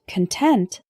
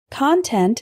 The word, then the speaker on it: content: contents of my suitcase content is an adjective meaning satisfied or happy for example I was content with the grade I got on the test say it with me content content the next one is deliberate